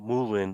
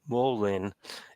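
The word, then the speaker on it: mullein: I actually got Molen it's not Molin but Molen in my yard right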